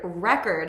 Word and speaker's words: record: This word, record, has the stress on the first syllable. There are, interestingly, a lot of words in English, and I love these, that when the stress is on the first syllable, like record, it's a noun. When the stress is on the second syllable, it's a verb, to record.